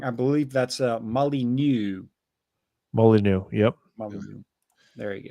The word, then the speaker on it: Molyneux: Oh, just so that I'm pretty sure I pronounced that wrong. I believe that's Molyneux.